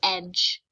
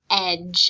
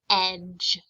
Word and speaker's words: edge: and sometimes says j remember that d g e is pronounced j sometimes students will pronounce this word as e d but remember this word is pronounced edge i want you to